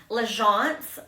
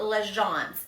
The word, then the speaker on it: L'Agence: My jean, we know how to say this now, L'Agence. These jeans are L'Agence.